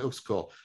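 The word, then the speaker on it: Uexküll: x k umlot u l l jacob vaughn who's cool huge influence on 4e cognitive science the notion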